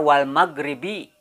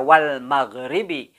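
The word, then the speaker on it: وَالْمَغْرِبِ: ada di akhir ayat maka Wal Maghribi ini tidak dibaca lagi secara Wal Maghribi namun berubah menjadi Wal maghrib ya jadi dimatikan seolah-olah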